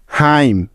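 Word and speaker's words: hymn: autumn এ ইউ টি ইউ এম N autumn হাইম এইচ ওয়াই এম এন হাইম দেখো প্রতিটি উদাহরণে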